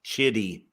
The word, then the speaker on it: Chitty: Chitty Chitty Bang Bang oh CH it's chit let me get that pronounced right for you Lynn Kitty with a CH Chitty Chitty Bang Bang I